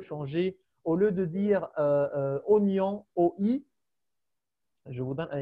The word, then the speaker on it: oignon: Est-ce que la prononciation change ici? Non, Non. Donc, pourquoi il y a un i?